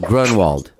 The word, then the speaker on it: Groenwald: do you say your last name peter grundle grunwald okay good now i'll know how to say